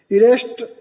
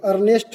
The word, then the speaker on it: Ernest: 5th number देखिए, a great nuclear physicist, एक बहुत बड़े न्यूक्लियर फिजिक्स थे जिनका नाम है, ध्यान दें, इरेस्ट रदरफोर्ड, सॉरी अर्नेस्ट है, मीनिंग देख लें आप लोग, स्पेलिंग अर्नेस्ट रदरफोर्ड, ERNEST।